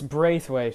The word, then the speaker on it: Braithwaite: It's Braithwaite, yeah, Braithwaite.